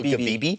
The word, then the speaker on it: Ghibli: Studio Ghibli? Yeah, that's how you pronounce it.